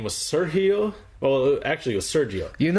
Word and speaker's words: Sergio: I'm like, no, it's pronounced Sergio. She'd get mad at me. She would go, Sergio. I'm like, I think I know how to pronounce my own name.